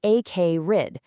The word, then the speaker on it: acrid: Next is acrid, pronounced acrid.